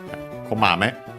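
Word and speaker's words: こまめ: Here komame ni, but komame. Komame is a na adjective, accent on the first syllable, which means diligent, earnest, attentive to detail, brisk, frequent, for example, checking.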